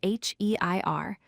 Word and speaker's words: heir: The word heir is spelled H-E-I-R, but we say heir, completely dropping the H sound.